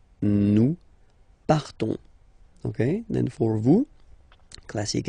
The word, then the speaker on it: partons: will be different, so classic ending ons, you don't pronounce the s, you just have this on, on sound nasal, nous partons, nous partons, Okay, then for vous,